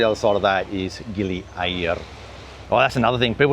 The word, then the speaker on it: Gili Air: It's air, like the word for water. It's not air as in the word for udara.